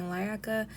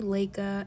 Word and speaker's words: Laika: I also wanted to note that this whole time I've been saying Laika, it's actually Laika, and I looked this up before I even made the video just to make sure, and I still said it wrong.